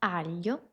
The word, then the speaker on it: aglio: El primero es decirte que puedes imaginarte una L antes del sonido.